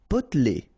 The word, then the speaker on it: potelé: Potelé. Okay, here you don't really pronounce this E.